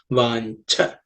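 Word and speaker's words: वाञ्छा: In the fourth line, vancha. This in and cha, this cha is the second letter in the cha varga or cha class of consonants, so it has to be aspirated. Vancha with a little bit of air.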